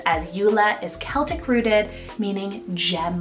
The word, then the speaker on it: Ula: And another cute three-letter U name is Eula, spelled U-L-A, Eula. I love both of these. They could totally work as sibling names, as Eula is Celtic rooted, meaning gem of the sea.